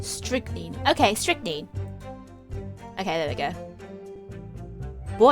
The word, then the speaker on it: strychnine: stricken stricken strick mean strict name strictly okay strychnine okay there we go boy i was so